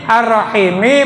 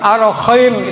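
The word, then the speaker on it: الرحيم: Tapi ketika ya membaca arrahim terbaca k arrahim. Arrahim tidak terlihat kan arrahim. Kalau gini mah arahim itu terlihat ya gitu. Teman Abah di kampung baik banget itu orang ustaz tapi ya dari Tegal arahim gitu ya. Kurang lebih arrahim ya.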